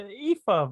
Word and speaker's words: Aoife: It's Aoife, but she's now Lyra because no one in America no one in Britain can pronounce it.